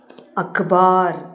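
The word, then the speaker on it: अख़बार: ஸோ நம்ம இந்த புள்ளி வச்சு வரும்போது நம்ம எப்படி உச்சரிக்கணும்னா அழுத்தி, அதாவது கு அப்படின்னு யூஸ் பண்ணோம், கு. ஃபார் எக்ஸாம்பிள் இந்த இடத்துல நம்ம என்ன போடலாம், அந்த இதுக்கு ஒரு எக்ஸாம்பிள் சொல்லணும்னா ஆ, க, கு அக்பார். அப்போ அதை அழுத்தி சொல்லணும். அக்பார்னா நியூஸ் பேப்பர்.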